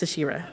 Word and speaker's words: Asherah: I was so nervous, I even said my name wrong. My name is Asherah. It's Asherah, my bad, it's Asherah.